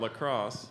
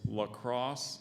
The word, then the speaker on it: lacrosse: a sentence curious about lacrosse Pamela signed up for an intramural team any other pronunciations there's lacrosse and Lacrosse that's probably how I said it when I was in eighth grade okay lacrosse um l-a-c-r-o-s-s-e